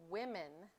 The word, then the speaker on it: women: in its plural form the way we pronounce it sounds different than the way it's spelled it sounds like women like the O should